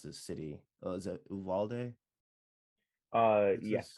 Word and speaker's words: Uvalde: the families that were affected by I can't pronounce this city. Is it Uvalde? Yes, correct. Okay, Uvalde.